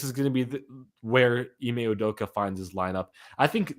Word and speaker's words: Ime Udoka: Udoka, Ime Udoka. Yeah, Udoka, that's right.